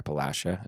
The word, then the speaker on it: Appalachia: about it in like Appalachia. Yeah. Or Appalachia is how it's actually pronounced.